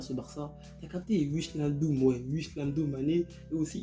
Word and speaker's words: Wijnaldum: Bah oui, Mané, le PSG, ils ont recruté, franchement, cette année, Ramos, Hakimi, Wijnaldum. Ouais, ça se prononce comme ça.